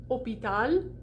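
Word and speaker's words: hôpital: lost in s so a word like opital like we would say hospital right there should be an s in that word but it's been lost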